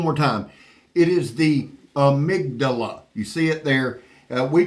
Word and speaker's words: Amygdala: say it one more time it is the amydala you see it there we couldn't pronounce it for at the